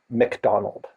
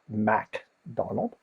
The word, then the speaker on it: McDonald: by Neil T McDonald that's NE i l McDonald not MacDonald you said that in your presentation right so you're making it clear there's no a up there in the front but also it's how you say it right there is no